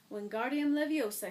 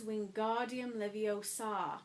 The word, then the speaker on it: Wingardium Leviosa: "Wingardium Leviosa," he shouted, waving his long arms like a windmill. "You're saying it wrong," Harry heard Hermione snap. "It's Wingardium Leviosa. Make the gar nice and long."